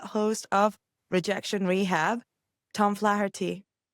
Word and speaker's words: Flaherty: I am your host and I am delighted to have with me the host of Rejection Rehab, Tom Flaherty. You pronounce my last name perfectly.